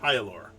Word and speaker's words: Hyalor: By the way, your hero's name is pronounced Hyalor.